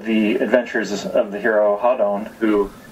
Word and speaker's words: Hadon: hero's name hon a lot of people say Hayden or hen or different different pronunciations but but Phil actually worked out the